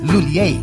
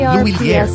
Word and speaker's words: Lhuillier: ng m luler English speakers commonly pronounce it as luler but for filipinos mas madaling ibigkas ang louer pwede ring gamitin ang